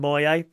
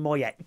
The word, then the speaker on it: Moyet: darling Jackie says oh it's a French name Alison Moyet that's why that T isn't pronounced Alison Moyet yep I say mo